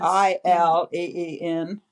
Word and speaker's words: Ileen: Ileen is not spelled like it is. Ileen.